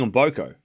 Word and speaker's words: Mboko: It's not on boo. Wait, I'm saying on booco. I'm saying it correctly, right?